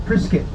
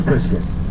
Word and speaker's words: Prescott: who live in Prescott they will correctly tell you no no no sunny boy I love in I live in priset oh I said okay but it's spelled Prescott no son it's priset as it make our